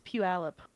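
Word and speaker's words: Puyallup: That's Pew Alip.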